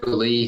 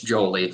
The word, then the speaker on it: Jolie: it confused it's not julie it's jolie like like one you know one smooth name no hyphen in there um jolie jolie yep